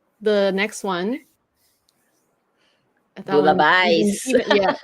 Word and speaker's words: bouillabaisse: then the next one, that one Bouillabaisse, yeah. Well, bouillabaisse. Bouillabaisse, bouillabaisse, I think. Bouillabaisse. bouillabaisse. Even I don't say those words because we don't make that.